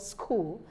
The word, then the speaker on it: school: well not pronounced then a place of learning that we all know it's called school and in school we have H in the spelling but the H is not pronounced we have the stomach